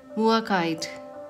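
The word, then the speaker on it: Mookaite: Ooh, Mukite Jasper. Okay, this is a Jasper, but it's I don't know how to pronounce that. Muakite. That's the way to pronounce it.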